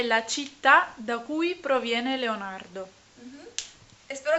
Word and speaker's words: città: Que ciudad se dice Città. città. Città con un acento como en francés Grave. al otro lado.